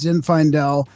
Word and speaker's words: Zinfaendel: me just say what the title is It's Zin Fel the mystics path of self-knowledge and uh yeah